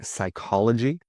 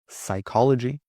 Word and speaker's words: psychology: Silent p. If you speak Greek, you'll know this from words like psychology, psychology, psychiatrist, psychiatrist, pneumonia, pneumonia.